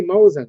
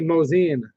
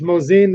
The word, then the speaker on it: Mosin: you hear people say everything like I say Mosin right just because I want to it's actually mozian it's moseying the gun I say Mosin Nagant and I